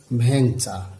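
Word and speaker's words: ভেংচা: আবার এখানেও একারের পরে কিন্তু অনুস্বর রয়েছে, সেই সূত্র অনুসারে এটির উচ্চারণ হয়ে যাবে ভ্যাংচা।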